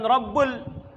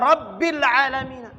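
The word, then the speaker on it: رب العالمين: apa rabbil alamin eh bukan robbul kenapa nggak dibaca robbul kenapa nggak dibaca Robert lelemina Kenapa dibaca rabbil aalamiina nih contohnya keseringan baca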